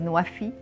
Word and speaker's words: Nuwafi: Egypt's country platform for the nexus of water, food and energy, pronounced in Arabic as Nuwafi, which means fulfilling pledges, is a platform which brings together different stakeholders.